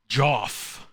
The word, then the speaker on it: Joff: Joff. It's Joff. I guess. At least that's how Fleek pronounces it. And I trust Fleek's judgment.